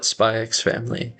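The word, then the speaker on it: Spy × Family: amount of, uh, well, I call it Spyx family and I think normally people don't pronounce the X, but I I I would I do like to pronounce the X.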